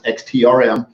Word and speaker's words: XTRM: what that means and it is not pronounced extremist i should pronounce xt RM and i will get